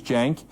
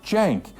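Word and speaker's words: Cenk: So the first name is Jenk. It's spelled C E N K. But the C in Turkish is pronounced like a J, like Jenk, like short for Jenkins.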